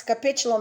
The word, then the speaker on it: capitulum: moving on the convex capitulum as you can see it's a hard c i agree but as